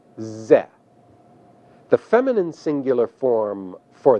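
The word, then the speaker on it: זֶה: The masculine singular form, this, is pronounced ze.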